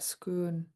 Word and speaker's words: schoon: And the word before that, schoon, is a Tlingit pronunciation of the English word school. And so it's an adaptation of the English word school. And so you just pronounce it schoon.